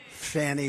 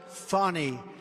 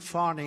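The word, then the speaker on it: Fani: the horrible case of Fanny Willis it's it's actually pronounced fonnie it's f a n i but you pronounce it fonny a little French accent there funny but that's a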